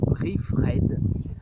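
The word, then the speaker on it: Reif Red: Alors ça s'écrit R-E-I-F-R-E-D tout simplement, Riff Red.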